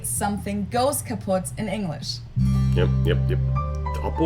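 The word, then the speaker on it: kaputt: moved to the us we spell it with two T's in Germany but we pronounce it the same way kaput and it basically has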